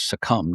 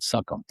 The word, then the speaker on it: succumb: really do I know I know to pronounce succumb not suckum so I called Fernando